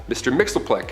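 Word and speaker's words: Mxyzptlk: Fifth Dimension close enough his real name doesn't even translate into Earth's languages but we collectively pronounce it as Mr Mixel he can manipulate anything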